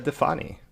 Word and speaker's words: Difani: modern yogi uh today my guest is defani that's pronounced your last name right yeah hell yeah